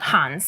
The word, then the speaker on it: Hands: uh now it is just called Hans so it's spelled hands you know uh and